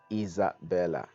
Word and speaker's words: Isabella: And the pronunciation, the S actually is silent. Um, but a Z, you sound the S like a Z.